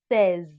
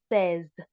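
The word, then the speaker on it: seize: sis is pronounced sis and um 16 is pronounced says okay says so the difference here is the e i z e in the in says an ix in a six.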